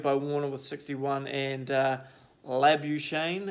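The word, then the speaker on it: Labuschagne: Warner with 61 and a lab you Shane as I'm told it's pronounced with another good 74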